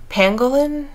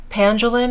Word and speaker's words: pangolin: here this is a dusky lilac that's the pangolin pandulin i always mispronounce this poor beautiful creature's name but that